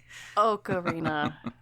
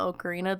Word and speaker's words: ocarina: Ocarina. Oak, like a tree.